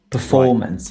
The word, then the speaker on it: performance: So we'll say management, performance. Right. So management on the first syllable, performance on the second syllable, for example.